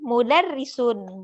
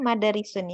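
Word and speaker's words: مدرسون: Jadi antum mudarrisun, bukan madarisun ya.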